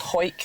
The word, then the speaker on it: Hawick: But there's one called Hoik, which I think you're thinking of, which is spelled Hawick.